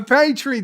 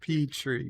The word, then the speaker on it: petri: A petri dish.